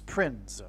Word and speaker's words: Prinze: And that's why this actor's name is Prinze, P-R-I-N-Z-E. I don't know how you pronounce it. It could even in fact be pronounced as Prince. I don't know. But it definitely rhymes with Prince nonetheless.